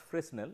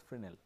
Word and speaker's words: Fresnel: It is not pronounced as Fresnel, it is pronounced as Frenel, though the spelling is Fresnel.